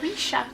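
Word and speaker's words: Marisha Pessl: Marisha, oh no, Marisha Pessel? Is that how you pronounce this? But I have... Marisha. It's Marisha.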